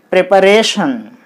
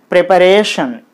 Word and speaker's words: preparation: So, you put the stress on Re. That means, on the letter R, you put this vertical bar like this. Okay, then it will be preparation. Preparation.